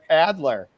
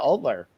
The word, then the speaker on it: Alder: you how many times i wanted to make you adler instead of oddler i was like what